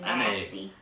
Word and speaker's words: NAS: However you pronounce it, it's You're nasty. N-A. You're nasty. The little nasty thing is gonna help us because you're so nasty. Nasty. That's how you say it, NAS.